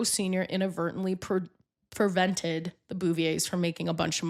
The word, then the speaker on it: Bouvier: Jacqueline Lee Bouvier Kennedy Bouvier.